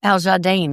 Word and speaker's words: Al Jardine: Wilson and Carl Wilson and Mike Love and Aljardine. Is that how you pronounced?